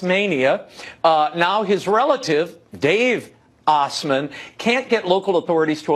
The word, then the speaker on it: Osmond: license plate well what happened well the the Osmonds that's the way you pronounce it Osmond some crude people might say ass man at quite a storied history Dave's distant relative